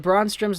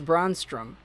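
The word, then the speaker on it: Brännström: of edler oh boy you said braun strom's name wrong say it like this braun strowm i played my placement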